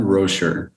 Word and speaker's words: Roescher: us know so i say it correctly roscher all right bro sure it is all right